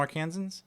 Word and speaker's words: Arkansans: Do you Like- call them Arkansans? Yeah, that's fine. That's the right Have you called the pronunciation.